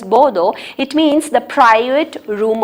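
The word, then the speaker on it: boudoir: displayed in my bordeaux border b-o-u-d-o-i-r it's pronounced as bodo it means the private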